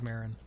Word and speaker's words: Maron: Maron is is is is it pronounced Maron I think it's Marin okay but I like